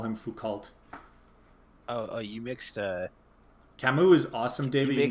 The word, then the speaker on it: Camus: I'm annoyed that we don't get to do some Camus reading, or however you pronounce it. Camus.